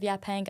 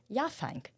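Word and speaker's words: Yaphank: Fun note, uh the first time I heard of Yapang, I pronounced it as Yafang, like phone and people reacted this way and I felt like an jerk.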